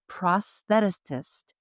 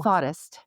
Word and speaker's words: prosthetist: Jessica's 17-year tenure as a certified prosthetist or Ooh, thoughtist. Did I say it right? prosthetist. Prosthetist. Prosthetist.